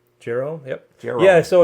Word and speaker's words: Jehu: Jehu, yep.